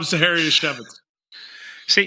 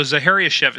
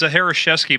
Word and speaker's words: Zachariasiewicz: name guys uh zaharia chevit see and it rhymes with manevitz so zaharia chevit so that's the only way I can remember because I thought it was zareski but know it's it's